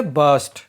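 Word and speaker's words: burst: बस्ट means पटाखे फोड़ना यहां पर आर साइलेंट है सो हम बोलेंगे बस्ट क्या तुम पटाखों की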